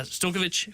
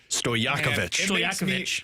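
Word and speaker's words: Stojaković: Uh, Stokovich, who you mentioned, can do it. Uh, what did you call him? Stokich, I knew that was wrong. Don't you dare mispronounce his name. Stoyakovichakovich.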